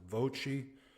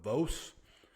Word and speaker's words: Voce: I'm assuming it's pronounced Voce. It is spelled V-O-C-E, so maybe we'll go with Vos, but I would say Voce is probably more like it.